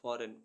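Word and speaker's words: foreign: करना एफ ओ आर ई आई जी एन फॉरेन फॉरेन मीस विदेश डी ई एस आई जी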